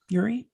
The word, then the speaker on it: Urie: but it stars michael urie is that how you say his name yuri yeah um and philemon chambers philemon